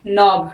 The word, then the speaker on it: knob: KNOB, नॉब।